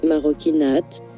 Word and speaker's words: Marocchinate: maroquinate, maroquinate, maroquinate, maroquinate, prononcé maroquinate, en italien pour « les actes des Marocains